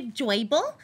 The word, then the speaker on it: Joybull: My name is Joyble, and I got my name because people said I was cute like a Joyble, so that's my name. It's spelled J-O-Y-B-U-L-L. It's Joyble.